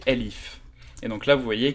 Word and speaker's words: elif: else if s'écrit elsif en python c'est LIF et donc là vous voyez que quand je l'écris bien sublime texte me le met en rouge rosé automatiquement donc là Elif c'est pour tester d'autres